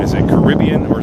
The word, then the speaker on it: Caribbean: the way I say Caribbean. Is it Caribbean or is it Caribbean? I say Caribbean. A lot of people say Caribbean. I know it's pronounced both ways, but if you ride